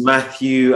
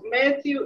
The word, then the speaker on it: Matthew: Max just match because sometimes when people say my name I can actually hear them say the single T in my name and my name has Double T so when I when